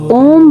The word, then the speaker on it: ओम: जैसे अभी बताया कि ये तीन वर्णों से मिलकर बना है। तो अ उ म जब हम ये उच्चारण करते हैं। इनसे मिलकर जब ओम बनता है तो हमें महसूस